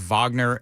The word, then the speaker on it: Wagner: this this group uh it's spelled in American terms Wagner it's Wagner and you have this